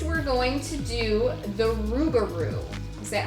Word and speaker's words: Rougarou: just awesome next we're going to do the rougarou is that how you say it yeah it